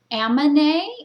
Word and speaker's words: Amanae: me just tell you this this treatment's called ammone and it's spelled a-m-a-n-a-e okay and so it is a